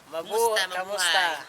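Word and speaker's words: Kumusta: How do you say how are you in Philippines? Kamusta? Kamusta.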